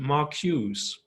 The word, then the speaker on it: Marcuse: name is ludwig marcuse i think you would pronounce the the last name mark hughes oh okay yeah ludwig